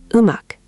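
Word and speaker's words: 음악: That's natural Korean pronunciation. Let's try another one. Look at this word, umak, meaning music.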